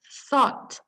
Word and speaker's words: thought: duanya eh think berpikir jadi bacanya thought jadi kayak t h o t thought gitu ya terus thought itu juga